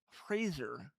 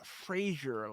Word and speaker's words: Fraser: And it's Fraser, like razor with an F at the beginning. Uh Not Frasier, like the TV show.